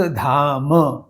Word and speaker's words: धाम: परंतु एक शब्द प्रथम पद के अंत में जो है परिहास धाम इसमें म का उच्चारण पूर्ण रूप से किया जाता है। उसे म या धाम इस तरह से उच्चारण करना दोष हो सकता है।